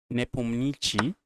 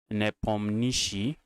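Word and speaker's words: Nepomniachtchi: Nepomichi. Nepomichi. That's how they say they pronounce that's how he said they used to pronounce his name. They should pronounce the correct pronunciation for his name is Nepomishi.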